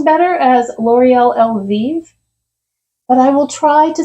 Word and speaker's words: Elvive: I always thought it was L'Oreal Elvive, and I was recently told that it's actually L'Oreal Elvive, and I don't know how I feel about that.